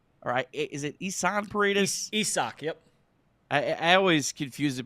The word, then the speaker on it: Isaac: Isak, yep. I always confuse it because the spelling does not match the pronunciation at all.